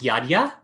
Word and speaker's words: Jadzia: It's an Eastern European name, but it's pronounced differently. It's pronounced Jadzia.